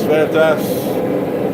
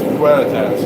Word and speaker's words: Veritas: Yeah, it's Veritas. It's Veritas. It's a very weird pronunciation. I'm not going to use it. I'm going to say Veritas because that's what I say.